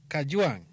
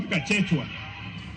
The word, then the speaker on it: Kajwang': Kajwang' be winjo kaka oluongi. First of all, pronounce my name properly. I'm not Kachechwa. I am Kajwang', not Kanjwang'.